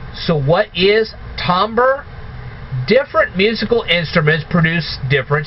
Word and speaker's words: timbre: IM b r e but it's but it's pronounced Tambor so let's imagine that a lumberjack is playing a guitar all right so what is tomber different musical instruments produce different sound waves if